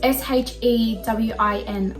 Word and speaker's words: Shewin: I think that's how you say it. It's kind of like Shein, but it's Shewin.